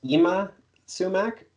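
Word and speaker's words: Yma Sumac: looks that up yes I believe pronounce uma sumac yma is the first name and yes she was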